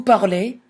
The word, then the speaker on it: parle: Je parle, tu parles, il parle, elle parle, on parle, nous parlons, vous parlez, il parle, elle parle. Again, everything in the brown sounds the same. Parle, parle, parle. They're all the same.